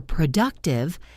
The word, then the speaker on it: productive: For productive, the stress is on the second syllable.